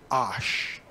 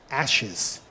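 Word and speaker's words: אש: the fire the word fire in Hebrew is pronounced Ash because what is fire produced ashes it's actually pronounced Ash isn't that weird it's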